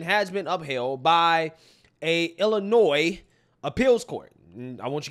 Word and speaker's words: Illinois: pronounce words and names I said Illinois not Illinois right so I'm listening okay